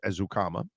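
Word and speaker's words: Ezukanma: They go and draft Eric Ezukama, which, by the way, I had him say his name today, and I was right the entire time. It is Ezukama.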